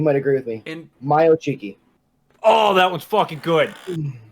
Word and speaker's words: Chiki: Mayo Chiki. Oh, that one's fucking good. How do you spell it? M as Mayo, like Mayo. Okay. Yep. Chiki. CHIKI. Chicken, but without the en, it's an I. Cheeky.